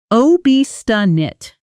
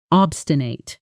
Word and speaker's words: obstinate: Pronunciation: ob-sti-nit, obstinate.